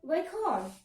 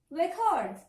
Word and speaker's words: record: You have to stress on syllable number 1.